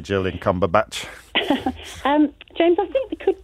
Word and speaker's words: Cumberbatch: Yeah, and it's spelt differently. Is it spelt differently as well? But it is pronounced Cumberbatch. It is. I suspect it's got no T in it then, has it, like Sandbatch?